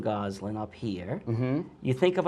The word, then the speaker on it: Gosselin: your name I say Goslin right with the double s like a z right as it were